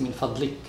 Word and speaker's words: من فضلك: But since this is the end of sentence, always the last letter comes مسكون. So we say كم الساعة من فضلك؟ من فضلك. Even if it's written من فضلك, we pronounce it من فضلك since this is the end of the sentence.